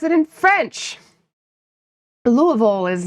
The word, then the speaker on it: Louisville: People native actually pronounce it Louisville. But yeah. It's not Louisville, though.